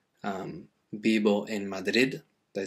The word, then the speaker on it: Madrid: uh to practice saying there's more like a th on the end very softly the same happens people who live in madrid they don't say um bibo in madrid they say bible in madrid okay so again it's